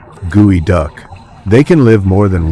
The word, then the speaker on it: geoduck: The geoduck, pronounced gooey duck.